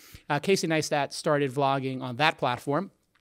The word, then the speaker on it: Neistat: got it all right we're done everybody I pronounce his name correctly Casey nice that started vlogging on that platform and he is